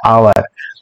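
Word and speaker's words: hour: তো এখানে দেখো শব্দটা কি রয়েছে, আওয়ার, যদিও শব্দটা শুরু হয়েছে এইচ দিয়ে, কিন্তু এই শব্দটার মানে যেখানে আওয়ার, এই এইচ এর উচ্চারণটা কিন্তু কেমন, আয়ের মতো, তাই না?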